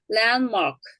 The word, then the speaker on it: landmark: 그런데 landmark. landmark. 이때는 뒤에 자음이 있어요. 자음은 어떻게 해요? 혀가 움직이면서 발음하다. landmark. 어렵겠죠? 그래, 이때는 mark. 들을 생략한다.